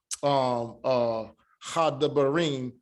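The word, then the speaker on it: הדברים: So, so here, the way that you were saying it, hadabarim, this is just telling you that you don't pronounce this as a da.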